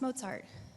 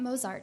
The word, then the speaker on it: Mozart: percent of our city doesn't know how to pronounce Mozart and that's not their job that's our job to say it's not Mozart it's Mozart so we put pronunciation guides for